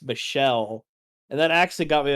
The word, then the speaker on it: Michel: were talking about uh m-i-c-h-e-l's pronounced Michelle and that actually got